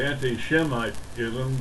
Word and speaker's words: anti-Semitism: Actually, you say anti-Shemitism because they are Shemites, because the S is SH. That's the way it's pronounced in Hebrew, SH.